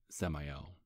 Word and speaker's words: Samael: people just called me Samael yeah just like Samuel but not as innocent well it's true I